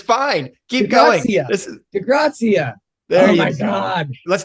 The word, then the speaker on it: DiGrazia: how do you say your last name correctly de graia graia let's start over I kind of like